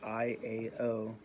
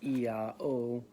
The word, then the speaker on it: IAO: It is interesting to note that in the Notaricon, the abbreviation made of the first letters of Isis, Apophis, and Osiris, I-A-O, pronounced Iao, Iao, forms the name of the supreme god of the Gnostics, an early sect of Christianity.